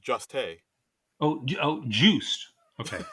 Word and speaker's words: Jost: I believe Hmm. it's pronounced Juste.